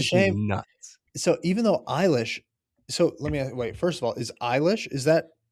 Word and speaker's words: Eilish: I mean, you can make Jesus Christ a 10-syllable word if you say it right. Cause like It's Eilish.